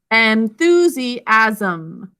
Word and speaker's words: enthusiasm: But this one is enthusiasm. Sound it out with me. Enthusiasm. Or sorry, enthusiasm. 4 syllables.